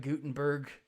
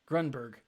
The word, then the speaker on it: Grunberg: Greg Gutenberg, not Gutenberg. I always get his name wrong. Grunberg.